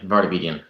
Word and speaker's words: Vartabedian: V Bryan Burk but I'm gonna say it wrong say your name please barbi diem vartabedian vartabedian sorry I I've always known him as dr.